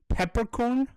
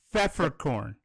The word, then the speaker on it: Pfefferkorn: Pfefferkorn. Peppercorn? That's close enough. It's pronounced with an F instead. It's Pfefferkorn.